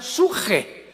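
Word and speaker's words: ψυχή: apuntarla, en el hebreo, es la palabra con P de Pedro, de Samuel, psuche, que en el hebreo se pronuncia suje, porque la CH se pronuncia en hebreo como J.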